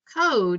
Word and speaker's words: code: be super pipe stripe if you'll notice cod and code look very similar the only difference is code is followed by a silent e which change that vowel sound same thing with strip